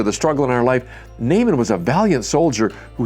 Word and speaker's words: Naaman: he encounters a man named Naaman now we pronounce it Naaman in their day they would have pronounced that not amen aren't you glad we just say Naaman Naaman